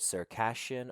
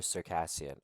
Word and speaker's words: Circassian: could use the word Circassian or Circassian. I, due to my American accent, pronounce the things like Circassian. Okay. But whereas other people, they prefer to use the sh.